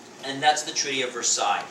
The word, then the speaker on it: Versailles: And that's the Treaty of Versailles. That's how I pronounce it, by the way, Versailles, not Versailles, but Versailles.